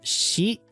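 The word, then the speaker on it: し: It's C, but it's pronounced she. She, like you know the poop, the poop word, except without the T.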